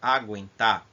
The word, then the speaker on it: aguentar: Observe aqui na palavra aguentar, o G é pronunciado e o U também, agu.